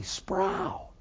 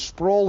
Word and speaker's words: Sproul: And I say, people, call me Sproul, I growl. My name is Sproul, it rhymes with soul.